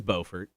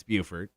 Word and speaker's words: Beaufort: In North Carolina, it is Beaufort, Mm-hmm. and in South Carolina, it's Buford. Yep.